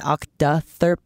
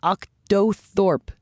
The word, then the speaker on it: octothorpe: there is no proper Doug calls it an OCTA thurp Lauren calls it an octotherp but octothorpe seems to have the most widespread use though its use